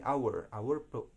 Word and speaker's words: hour: Kalau hour juga tadi hour kan, hour harusnya dibaca hour, tapi enggak, ini hour pronunciation yang benarnya dalam bahasa Inggris.